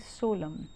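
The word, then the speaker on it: solemn: The king gave him हीज सोलम words, यहाँ पर देखिए इस वर्ड में एन जो है साइलेंट है, दिस इज़ सोलम।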